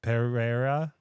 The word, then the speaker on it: Pereira: I don't know how to say his name Pereira Pereira Alex Pereira he's the one that goes